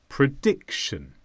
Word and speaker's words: prediction: is a noun and the stress is on Dick prediction prediction is saying what